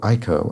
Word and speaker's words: Iko: points out that Aiko Iko Iko Iko is pronounced with a long I I think I sort of suspected maybe it was but I wasn't sure and then I think I landed on eco eco which was incorrect